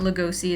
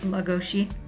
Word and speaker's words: Lugosi: it's not it's not Lugosi its logo she its Hungarian so the SI is pronounced she and that is why